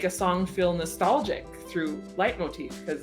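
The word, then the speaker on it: leitmotif: tend to really really like the use of light Motif hopefully that's how you say that that is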